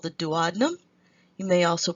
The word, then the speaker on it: duodenum: valve the the first section is called the duodenum you may also pronounce it do Adam if you would like the second part is